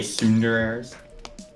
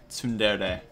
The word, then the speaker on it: tsundere: Are they tsunderers? How do you say that, Republic? Tsundere.